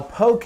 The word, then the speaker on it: poke: if you call it pokey okay okay rhymes with okay so okay and okay